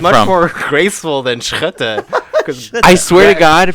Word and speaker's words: Schutte: Schutte.